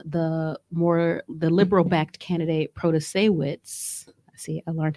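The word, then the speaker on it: Protasiewicz: so if um the more the liberal-backed candidate proto-sawitz I see I learned how to say her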